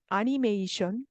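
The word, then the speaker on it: アニメーション: 그리고 애니메이션, 한국어로는 애니메이션, 영어랑 똑같이 그렇게 말하는데 아니메이션, 아로 발음합니다.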